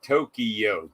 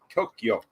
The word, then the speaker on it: Tokyo: it's karaoke it's like it's not tokyo three syllables it's tokyo tokyo tokyo anyway things